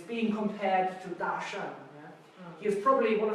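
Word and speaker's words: 大山: Pronounced Dashan.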